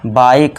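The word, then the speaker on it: bike: इस तरह इसमें भी ई साइलेंट रहेगा, बाइक।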